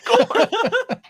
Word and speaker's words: Gorn: Yeah, you had corn. Yeah, but it spelled like the band. Yeah. I was about to say like the band. Gorn.